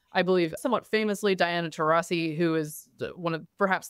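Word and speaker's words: Taurasi: the WNBA now I believe somewhat famously Diana terasi who is one of perhaps the most is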